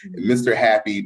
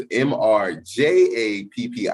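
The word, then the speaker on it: Mr. Jappi: Happy, people are going to look at it and pronounce it wrong, but it's mrjappi. So I grew up Latino, so Spanish J. So when you see Jose, you don't say Jose, you say Jose.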